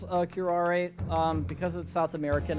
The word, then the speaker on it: curare: because of south american i'm pronouncing it like it's a south american word um as opposed to assuming it's an english word because you'd have the silent e at the end of the word and which is in